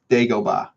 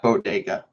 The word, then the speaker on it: Dagobah: You're saying it wrong. Say it with me. Bodega. No, it's Dagobah. It's Dagobah. Dagobah is a planet in Star Wars. Dagobah, not Bodega.